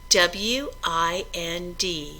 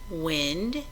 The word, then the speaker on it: wind: W-I-N-D can be wind, which means movement of air, or wind, which means to turn.